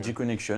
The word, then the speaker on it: G-Connection: G-Connection. Donc ça s'écrit avec un G, donc c'est à l'anglaise.